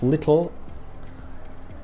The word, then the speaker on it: little: Example, in the word little, the L sound is in fact a new syllable.